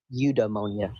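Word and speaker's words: eudaimonia: Udemonia, that's how you say it.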